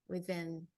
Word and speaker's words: within: Can you identify the th sound that's like a vibration within?